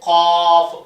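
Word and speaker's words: قاف: இது காஃப். 3 ஒரே வார்த்தை தான். காஃப். காஃப். என் வாயை பாருங்க, நல்லா கனமாக படிக்கணும்.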